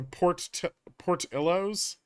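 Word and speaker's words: Portillo's: The emphasis is on the first syllable, so Portillos. Okay, I think I've got it.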